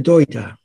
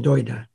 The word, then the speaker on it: Dagda: There's a god called the Doida, although it's spelled the Dagda, but it's pronounced the Doida.